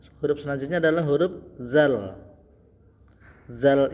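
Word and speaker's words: ذ: Dzal ini penyebutannya mirip dengan huruf sa di atas. Nah, ya. Huruf sa. Sa ini tadi kan di ujung lidah ya, di ujung lidah. Kemudian mirip dengan penyebutan huruf zal ini juga di ujung lidah za. Dza. Jadi za lidahnya tuh seperti digigit dza.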